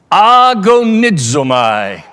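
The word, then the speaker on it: ἀγωνίζομαι: The word strive, pronouncing the Greek word, you will hear the English word, agonizomai, agony.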